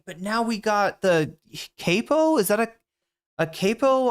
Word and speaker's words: capo: Let's jump to the new It is capo.